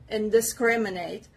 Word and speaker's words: indiscriminate: second word is indiscriminate indiscriminate this stress is on the letter s indiscriminate it means don't